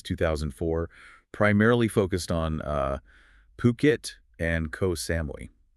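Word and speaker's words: Phuket: And actually before we even jump in, let's nail that pronunciation because it's important, especially given Ocean Worldwide's base. It's Puket. P H U K E T, not Fuket. Exactly. Puket.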